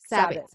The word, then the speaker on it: Sabit: I'm saying it wrong. Sabit. As in rabbit.